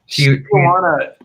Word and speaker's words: Tijuana: Tijuana, Mexico. Tijuana.